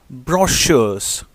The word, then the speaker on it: brochures: posters wall magazines and brochures the word b-r-o-c-h-u-r-e-s is pronounced brochures making labels for the